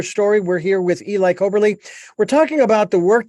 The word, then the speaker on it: Coberly: let you folks know we're talking with Eli coberley did I do I have your last name pronounced correctly yes Eli coberley and uh his quest did not come from